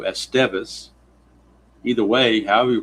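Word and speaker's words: Estévez: go to this guy, Mr. Esteez, I guess, is how it's pronounced. Since they say the accent or the emphasis is on the second syllable, we'll do Esteeas.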